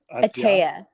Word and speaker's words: Ataia: Ataia? Ataia.